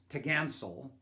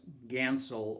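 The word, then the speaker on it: topgallant: on every mast is written as the top gallant sail but it was actually pronounced tagansel or sometimes just gansel or tagallant this sale which is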